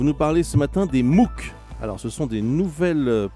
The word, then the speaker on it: MOOC: à tous vous nous parlez ce matin des mou alors ce sont des nouvelles plateformes d'enseignement via